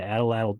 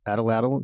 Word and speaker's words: atlatl: smaller as they move from spear points to Atlatl dart points to bow and arrow arrowheads. When you say Atlatl, is that how you pronounce it?